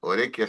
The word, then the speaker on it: Orequia: Orequia se pronuncia el apellido, creo. Orequia, Orequia, sí, Sí, tal cual.